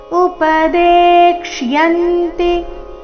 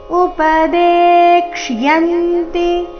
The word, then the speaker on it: ಉಪದೇಕ್ಷ್ಯಂತಿ: ಆಘಾತ ಬರಬೇಕು ಪರಿಪ್ರಶ್ನೆನ ಸೇವಯಾ ಉಪದೇಕ್ಷಯಂತಿ ಉಪದೇಕ್ಷಯಂತಿ ದೇ ನಂತರ ಅರ್ಧಕ್ಷ ಪೂರ್ತಿ ಯ ಇದೆ ಯ ಸ್ಪಷ್ಟವಾಗಿ ಕೇಳಿಸಬೇಕು ಯ ಮೇಲೆ ಆಘಾತ ಬರಬೇಕು ಉಪದೇಕ್ಷಿ ಯಂತಿ ತೇಜ್ ಜ್ಞಾನೈ ತೇ